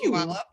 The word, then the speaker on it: Puyallup: Puyallup.